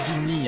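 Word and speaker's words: Érinyes: Oui, parce que dans la mythologie grecque, ça s'écrit Rhiniès, mais ça se dit Rini, hein, bien sûr.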